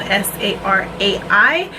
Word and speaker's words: Sarai: It's spelled S-A-R-A-I. In Spanish it's pronounced Sarai, but I think Sarai is S-A-R-A-H-I.